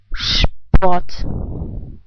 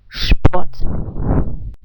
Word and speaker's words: Sport: The S is pronounced like in shy. The second R is also pronounced like a reduced R sound. So how would you pronounce those two words? Der Sport.